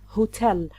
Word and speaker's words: hotel: A word like "hotel", it's a two-syllable word and it's a noun. The stress is always on the second syllable ho'TEL.